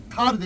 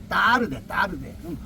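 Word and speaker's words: tarde: 근데 얘들은 미국 애들은요. 타르데 이래요. 타르데. no 타르데. 따르데. 이거 이렇게 말해요.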